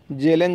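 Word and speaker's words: Kjellén: था जेलन या कजले जेलन ज्यादातर आता है लेकिन कजले इसका के साइलेंट इस में तो कजले ने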